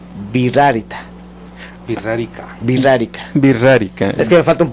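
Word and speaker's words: Wixárika: Y escucharon ustedes hace rato que era birrárita. Y le dije, se escribe con V.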